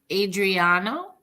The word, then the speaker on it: Adriano: time oh Adriana giannini how do you say the first name again Adriano Adriano yeah and his last name